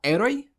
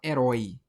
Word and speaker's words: herói: A gente fala heroi. Heroi. Ou a gente fala herói. Herói. A gente fala herói. Então a sílaba tônica é a última.